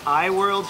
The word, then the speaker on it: AI World: Earlier today we went to AI World, pronounced I World here.